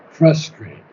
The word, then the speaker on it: frustrate: not frustrate but frustrate Accent on the first syllable frustrate FR yeah you pronounced